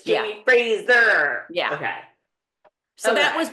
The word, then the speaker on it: Fraser: Because in that, by that time, maybe the Frasers in the United States, in America, were Frazier. Maybe he represents all of us Americans that say it wrong. We did for a very long time. Jamie Frazier for a very long time. Oh, we got schooled on that too. It's Jamie Fraser.